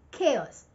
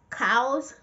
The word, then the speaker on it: chaos: Chaos. Not cows or chows.